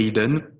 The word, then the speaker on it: Eden: on regarde un peu le sens du mot eden ça se prononce et hidden donc c'est très similaire à ce qu'on connaît mais là la définition de